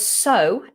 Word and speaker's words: sew: Okay, they are pronounced the same as the word S-O.